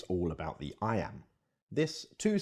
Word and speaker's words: iamb: about sound not spelling I Amba can't amateur may sound technical but there's an easy way to remember what it means the word I am is pronounced just like the phrase I am now let's expand that